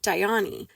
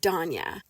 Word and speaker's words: Dyani: the main character, Danya, it's written as Dyani, and my understanding is that should be pronounced Diani. But then the narrator pronounced it Danya, and that just is a pet peeve of mine.